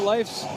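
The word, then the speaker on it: Leif: Elliott Life's mom had a sign in the Iceplex, and it said L-E-I-F is pronounced life, L-I-F-E, just to keep everybody honest.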